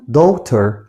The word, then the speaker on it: daughter: كلمة ابنة دي اسمها daughter، خلي بالك كلمة daughter الGH هنا سايلنت ما بنطقهاش، فبقول daughter.